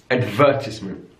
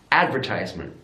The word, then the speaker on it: advertisement: second syllable adult adult in British English advertisement advertisement stresses on the second syllable in American English advertisement advertisement so the stress is now on the first syllable also your notice stay